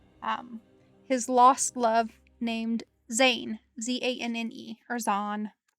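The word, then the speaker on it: Zanne: his lost love um his lost love named zayn z-a-n-n-e or zone spelled like that um and he he goes through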